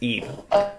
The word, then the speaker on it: Ib: Oh, IB, but it's pronounced Ebe.